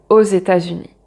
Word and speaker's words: aux États-Unis: Et là, on prononce le X avec le E puisque c'est une voyelle et on prononce comme un Z, aux États-Unis.